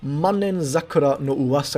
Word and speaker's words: Manen Sakura no Uwasa: We're going to start out with Sakurako, Eternal Sakura, or Room of the 10,000 Year Sakura, or Manen Sakura no Uwasa is actually how you pronounce this, Manen Sakura no Uwasa, or just Sakurako.